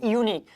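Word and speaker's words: unique: अब यहाँ पर जो आपका लिखा हुआ है एन यूनिक, यूनिक का प्रोनाउंसिएशन तो बहुआ ऐसे होता है, यूनिक का प्रोनाउंसिएशन तो कंसोनेंट होता है।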